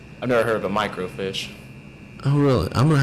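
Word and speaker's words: microfiche: anymore and so so it's micro fish not like swimming fish it's spelled Mi oh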